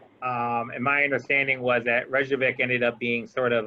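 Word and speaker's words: Reykjavík: So they went ahead and Reykjavik, how are you pronouncing it? Reykjavik.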